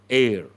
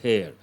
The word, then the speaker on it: heir: And here, we should not say hair. H is silent.